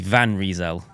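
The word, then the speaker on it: Van Rysel: is actually pronounced and they said the van is like a white van right and that the risal olle is probably right and it's reel reel so it' be van reel vanel but I can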